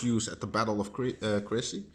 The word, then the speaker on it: Crécy: Of course a cannon, which was first used at the Battle of Crécy. Not crazy, but Crécy. Crécy. I think you pronounce it. I don't know.